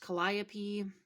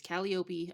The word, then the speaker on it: Calliope: Calliope, I know would be pronounced Calliope here in the United States, but she is from Greece, so it's Calliope.